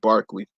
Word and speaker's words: Berkeley: name is William Barkley I know it look like his felled Berkeley but it's pronounced Berkeley he was reluctant to attack